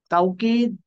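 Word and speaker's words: توكيد: তাওকিদ is pronounced as তাকিদ with a hamza instead of ওয়াও।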